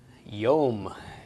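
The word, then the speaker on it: יום: a final meng recode is yeah why sound yom yes indeed yom means day and yom is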